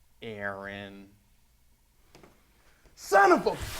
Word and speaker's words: Aaron: mean you better be sick dead or mute ay-ay-ron here it's why you mentioned when I said